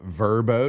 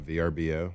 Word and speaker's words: Vrbo: Got a little Verbbo. Did y'all know pronouncing Verbbo, not VBO?